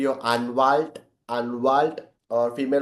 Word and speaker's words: Anwalt: Lawyer is going to be your अनवाल्ट.